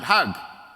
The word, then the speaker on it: Hajj: Egyptian Jewish woman and in Egyptian Arabic the word Hajj has a different pronunciation the J becomes a g so the Egyptians pronounce it hug if you go to